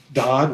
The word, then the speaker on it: Dodd: Dodd rhymes with God.